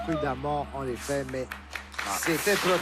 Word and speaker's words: prudemment: P, adverbe signifiant avec précaution, dont le premier E se prononce A, prudemment, en effet, mais c'était trop tard.